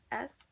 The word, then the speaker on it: Sowilo: Listen, you are free to pronounce it how you like. Okay? Swahilo. It is Sowilo.